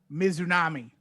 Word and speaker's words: Mizunami: Mizunami, yes. Good. Whew. Ryo Mizunami. I have Shida winning. Tim. I have Ryu Mizunami.